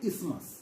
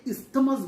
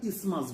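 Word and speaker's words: isthmus: এই টিস্যুটাকে বলা হয় ইসমাস। যদিও এর স্পেলিং হচ্ছে আই এসটি এম ইউ এস। এই টিএইচটা সাইলেন্ট থাকে। তাহলে আমরা এটাকে ইসতেমাস বলবো না। আমরা কি বলব? আমরা ইসমাস বলব।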